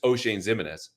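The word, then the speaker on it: Oshane Ximines: of all, none of us knew how to pronounce his name. Again, that's O'Shane Ximines.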